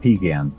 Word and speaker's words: Piegan: It's actually pronounced Piegan Pass.